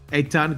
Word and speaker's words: Eitan: So first name is a ton, like a ton of bricks. Eitan, got you.